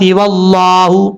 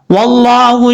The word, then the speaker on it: واللہ: واللہ، لفظ اللہ سے پہلے زبر ہے اس لیے اس کو اوپر پڑھا جا رہا ہے.